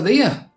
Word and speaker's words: there: There can sound like here in a Yorkshire dialect. There sounds stronger than there to me. It sounds like it has more punch to it and it feels proper Yorkshire.